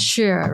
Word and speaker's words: Shure: It's pronounced as Shure, right? Shure, yeah. Okay. Sure.